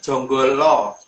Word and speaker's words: Janggala: Lebih tepatnya Jonggolo. Jadi Jonggolo. Jadi dari dalam penulisan Janggala itu huruf A itu kalau orang Jawa bacanya O.